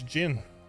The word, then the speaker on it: Jin: yeah that's the pronunciation it's not Zin it's Jin this was an exemplary